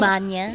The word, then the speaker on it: magna: laude ka o kaya summa, di ba yung Manya? Yung manya cum laude naman talaga yung tamang pagbigkas, hindi Yes. magna, di ba?